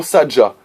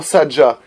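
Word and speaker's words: Sadga: Pour nous identifier dans le manuscrit, utilisez le mot Sadja, S-A-D-G-A. Vous prononcez Sadja, mais le vrai nom atlante est Sadja, avec un G.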